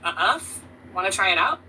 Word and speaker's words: œuf: In French, egg is called œuf, pronounced kind of like œuf.